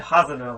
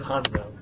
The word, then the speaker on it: Hanzo: Numero uno, Hattori Hanzo. Hattori Hanzo. That's much better than what you said last week. Hanzo. You said Hazano last week. Hazano. but it is Hanzo.